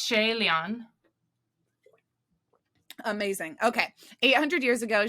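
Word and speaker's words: 谢怜: What do you have in your pronunciation book? Yeah, it's Shay Lian.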